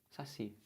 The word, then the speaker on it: saci: Saci. Saci é uma palavra o quê, gente? Oxítona ou paroxítona? Saci. Quem é a sílaba forte de saci? É o si, não é isso?